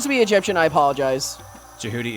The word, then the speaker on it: Jehuty: be egyptian i apologize jihuty is egyptian yeah yeah that's why it's actually pronounced like jehuty yeah but i'm also of the jihoody style yeah and people